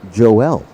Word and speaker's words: Joel: one and two now joel vargas 5-7-130 out of sunnyside california down in the san diego part of california where they pronounce it joelle vargas i'll go with that